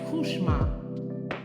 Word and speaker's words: Couchemar: he said to me, "It's not cooch n it's French. is Kushma.